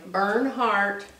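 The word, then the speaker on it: Bernhardt: is just called burn heart and my name's b-e-r-n-h-a-r-d-t just think of heartburn and turn it around but don't spell it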